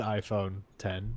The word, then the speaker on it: iPhone X: website like it it's there but below the iPhone 10 which mean as it should be you just